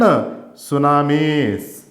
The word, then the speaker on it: tsunamis: Earthquakes and tsunamis. T is silent, children.